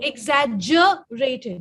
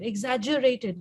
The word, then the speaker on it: exaggerated: word germ ge is jo okay okay so exaggerated exaggerated not zero try it again if you want